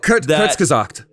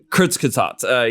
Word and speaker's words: Kurzgesagt: videos of is, I don't know how to pronounce it, Kurzgesagt, or it's In a Nutshell. It's a channel. Oh, Kurzgesagt. Kurzgesagt, yeah.